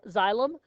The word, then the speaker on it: xylem: a little pronunciation here zài limb so is that like xylophone xylem the xylem is the vascular